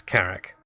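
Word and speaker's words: Carrack: having a talk about the first syllable i think is is obvious because because there's a double a it makes it a short vowel sound so cat hat carrick and but of course the second syllable that's that's where all the interest starts its carrick the end is carrot kismet yeah okay a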